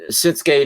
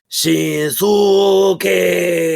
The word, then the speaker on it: Shinsuke: If you hear them say it in Japanese when he's wrestling in Japan, they pronounce out the vowels like really well. It's like Shinsuke, you know? But in American, we're like, no, his name is Shinsuke. Well, where did all the vowels go?